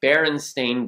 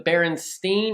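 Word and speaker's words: Berenstain: it like that because most people think it's the barenstein or the baron Stein because a lot of people believe wholeheartedly that it is s t i n at the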